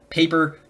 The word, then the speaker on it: Paper: I keep almost saying Pepper, but Paper, great game.